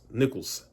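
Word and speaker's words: Nichols: Jimmy Butler was too busy with Rachel Nicholls Nicholls that's how you say her name Nicholls man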